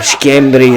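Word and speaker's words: Schembri: We do have Jeff Shembry, or Shembry as it's pronounced in Malta, who is the manager of this team, and Paul Johnson, as Rafa tries to turn there.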